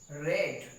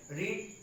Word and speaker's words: read: Mom used to get literature रेड। रीड का second और third form रेड होगा। Spelling वही होती READ, लेकिन प्रोनाउंसिएशन फर्स्ट फॉर्म में रीड, सेकेंड और थर्ड में रेड हो जाता है।